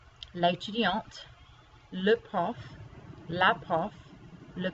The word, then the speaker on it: l'étudiante: But here, because you add the E to make it feminine, you do have to pronounce the T. So you have l'étudiant here and l'étudiante, male student and female student.